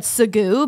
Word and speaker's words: segue: on it and I straight up just said sagu because that's how that's that's what that says